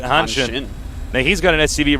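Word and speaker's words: Hanshin: look at that and say Han Shin it's Hansen No in uh Korean any s followed by an i is shh that's true so that's how they say it hin now he's got an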